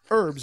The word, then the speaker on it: herbs: __ ] is it herbs we already why don't you not say the H we butcher the language how do British people say it herbs it's ridiculous we butcher